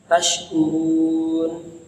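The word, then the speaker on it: تشكرون: Nah, tashkurun ketika kita membacanya huruf K tidak boleh lewat hidung, harus lewat tengah-tengah lidah, tempelin ke tengah-tengah langit atas. La'allakum tashkurun, los nggak ada lewat hidung.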